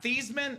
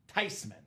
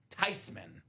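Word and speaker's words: Theismann: been living a lie said Grandma it's not theeman it's not tman the proper pronunciation is tyman so everyone's going to think you don't know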